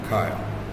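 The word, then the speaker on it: Keil: So, and that is spelled K-E-I-L, Kyle, is the assembler that we're using right there.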